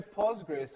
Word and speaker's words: Postgres: list goes down so it's either pogress or postgressql but pogress is much